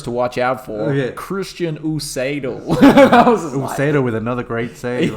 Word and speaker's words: Usedo: He goes, "Man, you got my name wrong. That's not my name." He goes, "Oh, my name's Usedo."